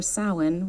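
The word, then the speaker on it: Samhain: recently in Ireland for sin which is spelled Sam Hayne but it's sa and it's the start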